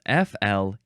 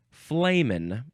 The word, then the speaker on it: flehmen: This is spelled F-L-E-H-M-E-N. It looks like flehmen. Flehmen. That's how a lot of us feel about men in general. This is a noun from 1976. Remember, it's pronounced flamin'.